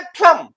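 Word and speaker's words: plumb: एक vowel sound है, तो ये हो गया फ्लम। अब ये फ्लम में बी साइलेंट है।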